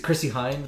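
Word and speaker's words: Chrissie Hynde: So is it Chrissy Hynde, the pronunciation?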